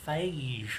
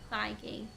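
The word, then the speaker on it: Feige: That's how you pronounce his name. Yeah. Oh, thought it was Fage or something like that. No. Fei.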